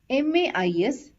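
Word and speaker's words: maïs: which means but and this is pronounced as ma is because there is a trema over the letter I and a and I has to be pronounced separately hope you understood the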